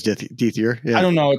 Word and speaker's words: Dethier: It's Dethier.